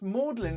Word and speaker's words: Magdalene: it was a number Magdalene College Oxford is pronounced Maudlin is it that's incredible